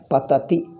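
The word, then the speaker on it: पठति: Patati. Ti. Ti. I didn't say thi. I said ti.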